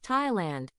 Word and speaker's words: Thailand: 타일랜드는 TH로 시작됩니다. 우리가 잘 아는 TH 발음은 think, thanks, both, path에 나오는 바람 새는 소리의 무성 발음이에요. 또 한 가지는 this, that, mother, brother. 소리와 비슷한 유성 발음이지요. 그런데 타일랜드의 영어 단어의 TH 발음은 예외적으로 그냥 태 발음이랍니다.